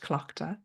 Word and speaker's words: Tlachtga: And the goddess at this time of Samhain is Tlachtga, spelt with a T, but pronounced Tlachtga.